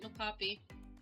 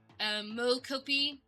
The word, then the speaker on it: mocopi: That's how you pronounce it, Mocapi.